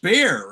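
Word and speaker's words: Bexar: BXAR. It's spelled that way. I believe it's pronounced bear, isn't it?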